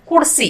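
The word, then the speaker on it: ಕುಡಿಸಿ: जब kudisi का प्रयोग करते हैं, तो बोलने के प्रवाह में हम kudsi कहते हैं, इसलिए यहां 'i' ध्वनि को छोड़ दें , kudsi कहें। जब 'ri' का प्रयोग करते हैं, जैसे kudsi ri, तो हम kudsiri कहते हैं, दोनों में 'i' की ध्वनि को छोड़ देते हैं , औपचारिक रूप से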